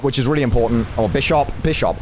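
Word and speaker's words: Bisharp: is really important oh bishop bishop i like bishop it's a bishop it's a bishop i don't know why the official pronunciation is by shop um sierra's been playing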